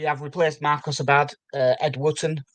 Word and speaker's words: Wooten: We have replaced Marcus Abad, Ed Wooten, Woot 10 in the scene as it's spelt like that.